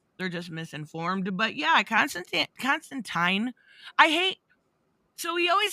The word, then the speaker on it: Constantine: Constantine has one of those too, but it's Tyne like fine.